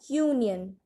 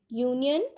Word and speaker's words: union: So if a word is beginning with a consonant sound, like a union. Union, it is starting with a vowel letter, but if we pronounce it, the sound is U.